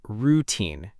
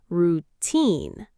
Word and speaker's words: routine: Many learners pronounce it routine with stress on the first part. But in English, the correct pronunciation puts stress on the second part. Routine.